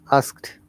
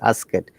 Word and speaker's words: asked: should be pronounced correctly so in asked it is single syllable ask it when you say ask it it becomes double cell ask and add similarly